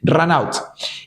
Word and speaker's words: run out: vamos a llamarlo así se escribe Run out y se pronuncia mi inglés runat y eso sale de